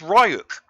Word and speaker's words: Ryuk: It's not Rook, it's Ryuk.